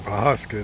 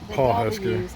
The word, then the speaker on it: Pawhuska: He was doing Pawhuska, not Pawhuska. Yeah, the W's kind of silent.